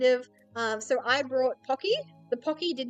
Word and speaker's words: Pocky: Uh, similarly, my mom and dad, they love calling pocky pokey.